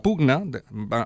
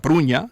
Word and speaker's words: Pruña: Y es por eso que hemos querido contactar hoy con Franco de la Pugna. Franco de la Pugna es el licenciado de la Pruña, es la manera correcta de pronunciarlo, licenciado en física, especialista